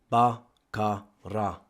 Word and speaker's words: Baqarah: Baqarah should be separated into its three syllables. BaKaRa.